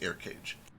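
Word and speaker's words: Eirkage: looks pretty spooky spooky how is it literally air cage like a-a-a-i-r-c-a-g-e it's e-i-r-k-a-g-e but it is pronounced air cage it's okay it's it's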